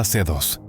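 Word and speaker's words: C.C.: Entre gritos, disparos y el estruendo de las máquinas de guerra, descubrió a una joven misteriosa, CC, pronunciada C2.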